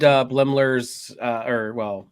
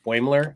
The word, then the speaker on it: Boimler: I really loved Blemler's, Cool Blemler's, Bearded Blemler. There we go. Or Boimler. I always say it wrong.